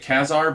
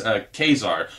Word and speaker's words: Ka-Zar: the news his name is kazar I've always pronounced it qasar but this issue says kazar ka Y - SAR that's how it's pronounced